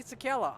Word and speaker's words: Czekala: valuable to a growing team, contact me, Sakala, on Facebook or Twitter at Sakala. That's spelled CZEKALA.